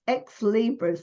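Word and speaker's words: Ex Libris: have a look it's at the company it's ex Libras I didn't even know how to say it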